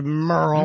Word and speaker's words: Merle: M-E-R-L-E is Merle. No, Stephanie. Well, I thought maybe she spelled, you know, sometimes girls will spell their name, it'll be Jill, but they spell it like J-Y-L-L. There is no way this is Merle, because it's M-E-R-L-E. It's Merle. It's Merle. Her name is Merle.